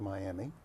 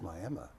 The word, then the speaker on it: Miami: And folks in Oklahoma, it's not Miami, it's Miami.